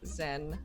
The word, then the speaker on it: Xen: You know a couple of things about the pirate warlord Zen.